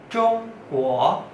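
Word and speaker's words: 中国: Negara Tiongkok bahasa Mandarinnya zhongguo, zhongguo, zhongguo, zhongguo. Ya, sekali lagi, Zhong Guo, Zhong nada satu, Guo nada dua. Zhong Guo, Zhong Guo, bukan Zhong Guo, Zhong Guo, bukan Zhong Guo ya, tapi Zhong Guo, Zhong Guo.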